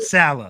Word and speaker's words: Saleh: The defense Robert Saleh.